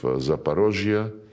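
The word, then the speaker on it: Запорожье: when we now liberate remaining parts of Zaparosia, this is the Russian way to pronounce it.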